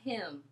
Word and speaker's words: hymn: for that country a hymn a hymn a hymn is a type of religious song right and we do not pronounce the n in this word you say ahem a